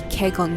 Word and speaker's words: Kegon: going to head to Keon Falls my apologies for any of my mispronunciation it's supposed to be kegon Falls holy crap CRA man